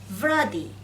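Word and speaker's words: βράδυ: আপনারা আসলে এই ভি এর সাউন্ডটা হচ্ছে ভিতা। ভিতা সাউন্ডটা কিন্তু ব এবং ভয়ের মাঝামাঝি একটা সাউন্ড আমাদেরকে উচ্চারণ করতে হয়। যেহেতু আমরা বাংলায় ভ ব ভ লিখেছি, এখানে ভ্রাদি, এটা ব এবং ভয়ের মাঝামাঝি একটা সাউন্ড। আমরা যখন বলবো এভাবে বলবো যে ভ্রাদি।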